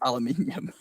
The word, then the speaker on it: aluminium: True, because it's spelled aluminium, and that's why it's pronounced aluminium.